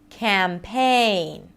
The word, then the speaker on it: campaign: It's a secondary stress. It's not reduced. Campaign. Campaign. Da-da. Da-da.